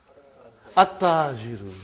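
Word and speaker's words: التاجر: At-tajiru. You did not pronounce al. You did not pronounce lam. Okay, you did not pronounce, you skipped it. Okay, at-tajiru.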